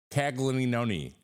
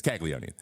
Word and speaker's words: Caglianone: g l i a n o n e kagoni it's kagoni uh shout out to my co-host on Sunday